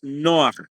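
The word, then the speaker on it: נֹחַ: es el estudio introducción la palabra noah eh que es la pronunciación que se ha traducido como Noé pero la pronunciación hebrea es noah en hebreo significa descanso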